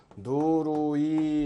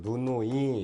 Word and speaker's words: 누누이: 누누이 해서 누루이 이렇게 발음이 나기는 납니다. 물론 이제 정확한 발음은 때는 루를 낼 필요가 없는 거죠. 누누이 이렇게 해서 내면 되는 거죠.